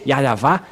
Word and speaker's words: Yahvah: le frère Dieu d'Abraham vous devez prononcer yava et vous vous allez